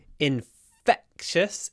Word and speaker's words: infectious: expert in infectious diseases infectious infectious remember that the is stressed but it's clipped between the foot and the cut infect in in infectious diseases not INF infectious infectious the next one